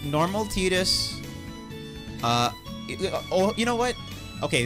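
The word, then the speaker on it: Tidus: pretty a vine equivalent how people pronounce his name Titus Titus I still don't know which one is right it's tight right like cloud squall tide like detergent or whatever laughing so laughing his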